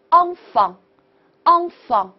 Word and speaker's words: enfant: 好，d 在结尾不发音，所以连起来就是 enfant。